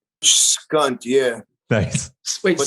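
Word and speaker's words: HCUNT: I was writing skunt. Skunt, yeah. Nice. Wait, But spell that. The H was silent. Skunt. Just C-U-N-T with an H in front of it.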